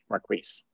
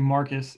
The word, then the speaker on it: Marquis: thank you um uh marquis hi how's everyone doing not to correct you my name is actually marcus even though it's spelled that's all right i'm